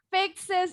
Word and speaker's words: fixes: Fixes, ingat X itu bunyinya KS. Kalau pakai S, bunyi final S-nya jadi is. Fixes. Fixes. Bunyinya is ya.